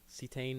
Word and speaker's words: cetane: better knock protection or a ceetain cetane number that's how you pronounce it but a low energy